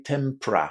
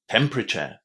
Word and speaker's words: temperature: Lots of students are having problems with this word because they say temper. But it's not tempor, it's temper. Temper. Tempe. Temperature.